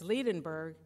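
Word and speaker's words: Liebenberg: the direct women for my award how to pronounce her last name properly and she said it's ledin berg and it means love mountain and she has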